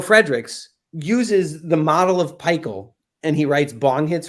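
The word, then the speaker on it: PiHKAL: to to pikel um by Alexander Shogun and pikel stands for phenylethylenes I have known and loved um pikel p-i-k-h-a-l it's spelled all capital P little I all capital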